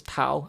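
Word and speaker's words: 頭: So for example, I don't know, head in Cantonese is tau, and in Mandarin it's tol.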